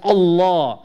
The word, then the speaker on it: Allah: Of the interesting Facts about this name of Allah is that it is the only word in the Arabic language in which the double L has a special pronunciation.